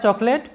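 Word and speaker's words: chocolate: তারপরে দেখো আরেকটা শব্দ, চকলেট, চকলেট, যেটার বাংলা অর্থ হচ্ছে চকলেট, বাংলায় চকলেট, ইংরেজি উচ্চারণটা হবে এটা চকলেট। দেখো এখানে সি এইচ এ চ উচ্চারণ হয়েছে এবং অতে তোমরা জানো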